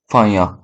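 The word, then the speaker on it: फाहियान: Chinese जो Pilgrim थे, फाहियां, वो आए थे। हाँ, ऐसे ही प्रोनाउंस होता है फाहियां, ये चाइनीज नेम है।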